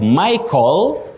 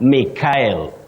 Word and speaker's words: Michael: not Raquel, and sometimes just like Michael, not Mikhail. Locally, we find ourselves saying Mikhail, but it's Michael.